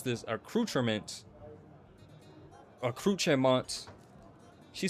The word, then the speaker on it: accoutrement: And she just said accou- First of all, I would pronounce this accoutrement. Accoutrement. She said accoutrement. She she rolled the R. I I can't do that. No, it's a it's accoutrement, bro.